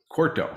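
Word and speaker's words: Quarto: site over to using quartro corto so i keep mispronouncing that forever but um corto right so it is yeah i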